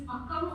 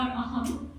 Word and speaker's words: Akam: What I've written down below, which is Akam or Aham, pronounced as A-H-A-M but written as A-K-A-M, is love poetry.